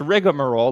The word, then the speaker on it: rigmarole: salad but rigmarole which it's actually pronounced rigamarole like like you and i say but there is no